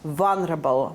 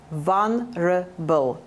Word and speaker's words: vulnerable: So V is for vulnerable. Mind the pronunciation of the word. Vulnerable. L is not pronounced. L in the middle is not pronounced. It is silent.